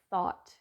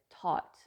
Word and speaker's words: thought: The same with the word thought. THOUGH. Thought. is going to sound like a completely different word when someone pronounces it taught, which is actually a different word.